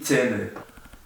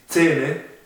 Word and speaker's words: Zähne: fácil de pronunciar, porque es una A, una mezcla entre una A y una E. Entonces pronunciaríamos E. Que no hay una gran diferencia, entonces podríamos, al decir Zähne, decimos directamente E.